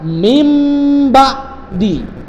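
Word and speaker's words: من بعد: Contohnya min ba'di. Cara membacanya adalah mim ba'di.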